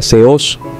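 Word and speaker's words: θεός: Por ejemplo, la palabra seos es una palabra oxítona, ya que lleva acento agudo en la última sílaba.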